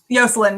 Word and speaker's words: Jocelyn: sense or yacht one jocelyn joselyn yeah the spanish pronunciation because in my mind